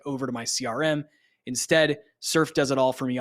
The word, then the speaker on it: Surfe: The tool is called Surf, and it's spelled SURFE.